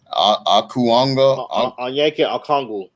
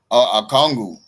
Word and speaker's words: Okongwu: You know, and even I mean, some of these guys like your I can't even pronounce his second guy. Akuanga. Okongwu.